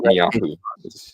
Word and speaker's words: Netanyahu: Israel retaliated, and Prime Minister Benjamin Netanyahu vowed to Netanyahu is how it's said.